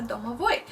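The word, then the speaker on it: domovoi: that every house has a dome of boy that's how you pronounce it it usually lives in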